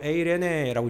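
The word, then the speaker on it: εἰρήνη: 여러분 평강이라는 단어가 뭐 어떤가면 헬라어로 에레네라고 읽거든요.이 평강의 반대가 뭔지 아세요?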